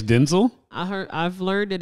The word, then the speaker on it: Denzel: denzo Washington's son cuz it's not Denzil I his name is Denzel I heard I've learned